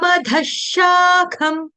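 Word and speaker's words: अधःशाखम्: लेकिन यहां पर विसर्ग का उच्चारण जो होगा हलंत श के साथ होगा।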